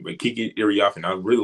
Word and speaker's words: Kiki Iriafen: It took me a while to figure out how to pronounce her name, but Kiki Iriafen, I really like what she did in her rookie year.